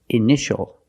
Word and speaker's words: initial: In this word, initial or initials, more than one, we see T-I-A together, so the T is pronounced sh, sh.